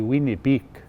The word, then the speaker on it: Winnipeg: the city of winnipeg the proper pronunciation of winnipeg is actually wienerbeek and winnie beak is